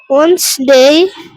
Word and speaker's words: Wednesday: Sunday Monday Tuesday ওয়েডনেসডে, ওয়েডনেসডে ডির বাদ উচ্চারণ। ওয়েডনেসডে, Wednesday Thursday, Thursday Friday.